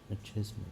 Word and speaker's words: machismo: Go. Mashimo? Machismo. Machismo? Machismo. Machismo. Okay. So if you heard that, it's machismo. It literally means aggressively strong or aggressive masculine pride. The the extravagant machismo display.